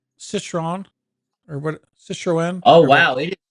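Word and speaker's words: Citroën: I think it pronounces Citroen, or what? Citroen.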